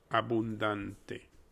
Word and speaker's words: abundante: Now, if you wanted to break this one down a bit, the first letter becomes A, which is similar to that hurt.